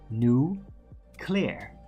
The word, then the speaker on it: nuclear: It's not it's you're not supposed to say nuclear. It's nuclear. New clear. I mean, it's very basic when you really listen to it separately.